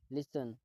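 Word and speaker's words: listen: लिसन. लिसन का मतलब होता है सुनना, दोस्तों इसमें टी साइलेंट होता है.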